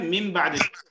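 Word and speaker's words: من بعد: সাকিন সাকিন নুন সাকিন তাহলে নুন সাকিনের উচ্চারণটা কি হওয়ার কথা মিন নুন তাই না মিন হ্যাঁ নুন কিন্তু হবে কি আসলে মিম মিন বাদি মিম মিম বাদি মিম বাদি মিম বাদি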